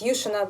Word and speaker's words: Yushina: So you can't like it's Yushina, but like people just put the emphasis on the second part of the word, but that's fine.